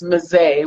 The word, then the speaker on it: Mezei: So you told me that it's Mezei with a long Yes. A.